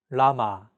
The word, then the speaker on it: 라마: This sound is actually somewhere between an L and an R sound. When pronouncing this sound, your tongue should strike the gum ridge behind your upper teeth in a quick, rapid motion.